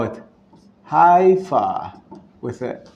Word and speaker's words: Haifa: some people call it Haifa with a h but was Israelis pronounce it with a huh you can put the